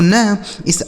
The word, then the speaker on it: nice: NICE, एन से हो गया दोस्तों न, इस आई का उच्चारण आई हो जाएगा, CE से स, यह लिखा गया आपका नाइस। NICE नाइस हो गया, ठीक है।